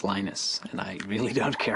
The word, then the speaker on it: Linus: Swedish it's a Venus when I speak Finnish it's Linus when I speak English it's Linus and I really don't